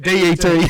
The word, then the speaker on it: debt: remember- Pet peeve, fucking silent letters. Yeah, debt. DET. Yeah, that's right. It's like dead. D-E-D, dead.